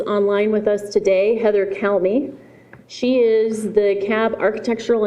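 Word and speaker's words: Calme: My name is Heather Calmy. Last name is spelled C-A-L-M-E.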